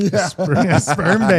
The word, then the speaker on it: Sberbank: Don't mispronounce Sperm that. bank? Sberbank.